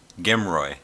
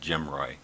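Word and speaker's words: GMROI: different next up is gimroy sometimes pronounced jim roy it stands for gross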